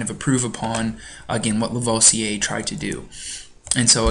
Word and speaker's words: Lavoisier: Antoine Lavoisier, so he's French, that's how you pronounce his name, Lavoisier, grouped the known elements into categories that he called metals, non-metals, gases, and earths.